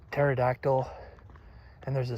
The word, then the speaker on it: pterodactyl: And then you have some words like pterodactyl and there's a silent there's a silent p at the beginning. Of course, you have to have that. But it's not pterodactyl or a pterodactyl. It's just silent.